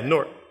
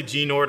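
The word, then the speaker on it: G'nort: in there um yeah north it's a silent g like nat so don't don't say gene nord or ganor you know it's nort um and batman superman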